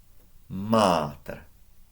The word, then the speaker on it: mater: So, pater, mater.